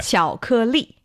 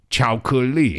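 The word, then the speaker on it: 巧克力: Chocolate in Chinese, it's very similar Yes. to the English word. It doesn't sound exactly the same. What is it? But it's close enough. Yeah. 巧克力.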